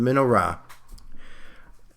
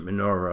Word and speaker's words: menorah: lamps all right so the minnow Rock uh I know that in English we pronounce the menorah a lot of times so that's that's fine that's a way to say it in English Menorah two olive trees